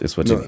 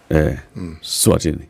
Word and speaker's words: Eswatini: And I'm pronouncing it deliberately so that, So it's written Eswatini, but it's not pronounced Eswatini. No. The S, you start with S, not E. Swatini.